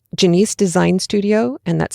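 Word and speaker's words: Janeece: goodness you really should check this out it's Janice design studio and that's spelled j a n e e c e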